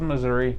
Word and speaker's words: Mazuri: So we might not actually know where the zoos get their food from, but there's a website called Mazuri, not like the state, it's spelled Mazuri.